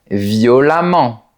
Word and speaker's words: violemment: Attention, pour les adverbes, la terminaison E-M-M-E-N-T rime avec le mot diamant. Voilà d'autres exemples. Évidemment, récemment, différemment, violemment, etc.